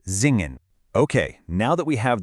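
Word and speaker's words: singen: right before a vowel, it actually buzzes like an English Z. So, the verb to sing, zingen, is actually pronounced zingen.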